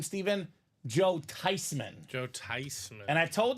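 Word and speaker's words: Theismann: quarterbacks in the 80s Joey T was uh thyman now years later they interviewed the grma and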